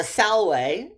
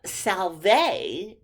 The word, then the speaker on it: salve: caesar's latin so the salway uh the greeting salway um the v was pronounced like a w in caesar's latin and um salve which you learned if